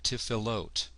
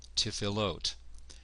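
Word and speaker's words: tefillot: So we have tifilot, tifilot. And so I'm basically applying the syllable rules and adding the ending in one step here. Tifalot. Again, the presence of the Dagesh Forte is what is leading us to do what appears to break the rules, but really doesn't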